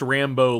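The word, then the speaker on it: Rambeau: rambo rambo okay rambo it's pronounced rambo like rambo but it's spelled different than okay that's one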